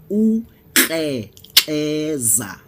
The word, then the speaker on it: Ukrexeza: Ukrexeza, pronounced Ukrexeza.